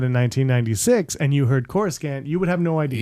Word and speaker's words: Coruscant: cues, there's a lot of things that were mispronounced. I wrote down some of them. Bespin is Bespin. And Coruscant is Coruscant.